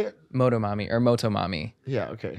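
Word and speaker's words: Motomami: with some of the production that where Rosalia, Moto Mami went. Yeah. I agree. How do you say it? Moto Mami.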